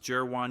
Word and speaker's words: Jer'Juan: It might look like Guan, but it's pronounced Jer'Juan Newton, and he's the all-time leader in receptions and receiving yards at the University of Toledo.